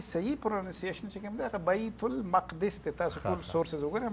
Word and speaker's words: بیت المقدس: مسجد اقصی بیت المقدس زمون خلق وته بیت المقدس وی د دې صحیح تلفظ دی بیت المقدس.